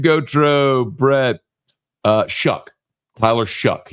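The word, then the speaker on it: Shough: Tyler Shuck.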